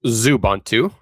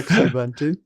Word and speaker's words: Xubuntu: And that's pronounced Zubantu. Zubantu or Exubuntu. Uh however you want to pronounce it, we won't judge.